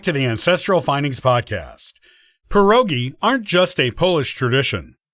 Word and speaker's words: pierogi: By the way, if you're wondering about the correct pronunciation, it normally goes like so, pierogi. This is as opposed to pierogi, or other pronunciations we sometimes hear in the States.